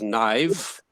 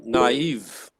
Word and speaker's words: naive: not Eve no e otherwise you can totally mispronounce that word you can pronounce it as knives or you can pronounce it as naive so naive is the word all right this is